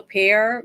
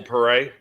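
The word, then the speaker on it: Paré: And I can't remember the name of the movie, but it's a Michael Pear movie. Some B-rate movie I've never seen. Michael Pare. Pare, yeah, that's how you say his name.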